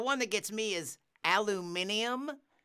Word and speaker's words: aluminium: that gets me is aluminium aluminium you've added a whole a whole extra syllable to it or you lost it at some point yeah that's you got